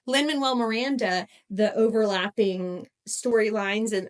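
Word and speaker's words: Lin-Manuel Miranda: Lin manuell Linn manuell I I said it right but I in my head I said Lin minwell w l l and I was like wait is that right no Lyn Manuel Miranda the overlapping story lines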